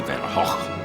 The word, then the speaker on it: Van Gogh: The name can be pronounced in all languages. Only the Dutch can say Van Hawk."